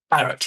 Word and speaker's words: Barratt: Barrett.